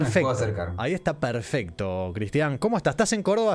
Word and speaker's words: Cristián: Vos sos Cristian con tilde en la A, acentuada está esa última sílaba, ¿verdad?